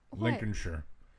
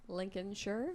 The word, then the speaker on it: Lincolnshire: No, no, Lincolnshire. Don't say shy. But that's how it's spelled. So what? Busyiness is spelled business.